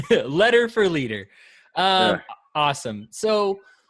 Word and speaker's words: Leder: am joined today by candidate for president Letter. Is that correct? That's how it's pronounced. That is exactly how it's pronounced. Thank you. I want to say leader and you probably wanted to say leader too, right?